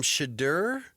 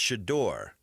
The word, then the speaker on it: Shedeur: Remember, he corrected me on how to say his name right out of the gate, which I actually appreciate. What? No, I don't. Because I called him Shador, and he's like, no, it's pronounced Shador.